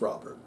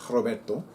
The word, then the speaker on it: Robert: It's pronounced Robert. And it's only pronounced Robert. I mean, in English anyway. In Spanish, it's Roberto. In French, it's Robert. But in English, it's Robert. She said it's pronounced Mayet.